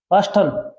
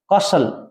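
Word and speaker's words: castle: कास्टल नहीं, इसका अर्थ होता है किला, कासल। क्या बोलो इसको भी? कासल। कासल माने क्या होता है अभी? इसमें टी साइलेंट होता है, कासल, कासल।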